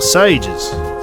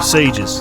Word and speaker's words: sieges: Or sages. No, sieges. That's the correct pronunciation.